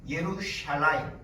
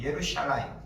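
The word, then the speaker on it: ירושלים: 찾아봤습니다 예루살렘 이거는 히브리어로 예루샬라임 해 보세요 한번 예루샬라임 예루샬라임 예 예루샬라임이라고 이렇게 발음합니다 예루살렘은 예루이라는 단어하나 아까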